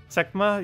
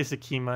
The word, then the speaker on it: Sekma: Sekma? Yeah, I always say Sekima instead of Sekma. Yeah, I know, it's pronounced differently.